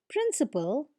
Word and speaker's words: principle: Our next pair of words is principle and principle. They are also pronounced exactly the same way, but notice the difference in spelling.